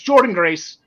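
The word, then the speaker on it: Jordynne Grace: I thought it was Jordana, the way it was spelled, but it's Jordan Grace.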